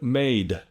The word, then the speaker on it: made: Take the word made, for instance, M-A-D-E. Now, if I really emphasize the pronunciation of that, made, your ears as Vietnamese speakers are going to think that I am voicing that E, or that I'm adding an A to the word, but I'm not.